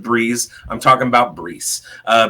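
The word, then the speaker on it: Breece: Uh yeah, it's another Jet and it rhymes with Breeze.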